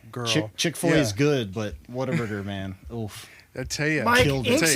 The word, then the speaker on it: Whataburger: double um so if y'all don't know what whataburger is it's actually pronounced what a burger yes but it's hard to say that it's water burger and for the longest time it i always